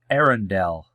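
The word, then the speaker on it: Eärendil: Millennia old, Elrond, half-11, is the son of Arendelle, the Mariner. Hope I pronounced that correctly.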